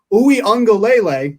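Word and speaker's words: Uiagalelei: because trevor lawrence is out and do dj ooey on galele that's how you pronounce that by the way there we go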